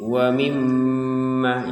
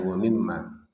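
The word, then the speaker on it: وَمِمَّا: Jadi wa mimma. Jadi ini kita bacanya wa mimma. Itu ada dengungannya. Jadi tidak sekedar wam mimma.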